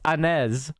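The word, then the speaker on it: Áñez: named janet janine annette anez i think is how you pronounce it a-n-e-z i believe that's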